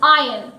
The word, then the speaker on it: iron: But when we talk about ironing our clothes, it is not iron, it is iron. It is said I-R-O-N, but the pronunciation is iron or ironing our clothes.